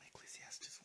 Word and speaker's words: Ecclesiastes: I want to begin in, I believe it's pronounced Ecclesiastes, whatever it is.